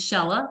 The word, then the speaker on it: Shehla: introduce you uh to shella who I am always afraid she told me it rhymes with Stella and it still scares me